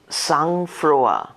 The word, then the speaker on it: sang-froid: Sange, S-A-N-G-Freud, F-R-O-I-D, উচ্চারণ, sang-froid, noun, ability to remain cool in danger or difficulty, composer, বিপদ বা অসুবিধার মধ্যে মানসিক স্থৈর্য বজায় রাখার সামর্থ্য.